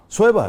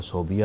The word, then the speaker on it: صہیبہ: کا ذکر کرتے ہیں۔ اچھا یہ تلفظ صہیبہ ہے کہ صوبیہ؟ صہیبہ ہے۔ اچھا لیکن جتنی کتب ہیں اس میں تو بے پہلے آتا ہے۔ جی یہ عام طور پر پڑھا جاتا ہے صوبیہ، اچھا اصل تلفظ صہیبہ۔ صہیبہ ہے، ٹھیک ہے۔